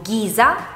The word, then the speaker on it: ghisa: Quando è seguita dalla lettera H e poi dalla vocale E oppure I, ha un suono duro in parole come per esempio ghisa o ghetto.